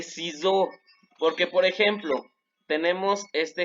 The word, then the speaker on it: ciseaux: Cuando la S está en medio de dos vocales y es una sola S, se pronuncia como una Z, de ciseaux.